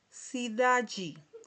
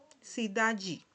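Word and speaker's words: cidade: Aquí tenemos otro ejemplo, ¿verdad?, de la palabra sidaji. Sidaji. Cuando tenemos este sonido aquí, eh, la d con la e, ¿verdad? Se pronuncia al final como si fuera un y si da yi.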